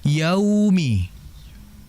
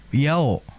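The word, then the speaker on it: يوم: Itu kemudian yang harus diperhatikan oleh kita adalah yaumi. Ya, perhatikan di wau. Wau di situ vokalnya u yaumi. Jangan sampai terbaca oleh kita dengan vokal o. Yaumi yau yao yang betul yau ya bedakan antara yao dengan yau.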